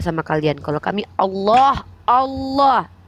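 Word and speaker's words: الله: kalian Kalau kami Allah Allah lamnya tuh kalau ada sama tasydid tuh ada tiga tuh Allah ditafkim bacanya ditebalkan Allah bukan Allah allahah ya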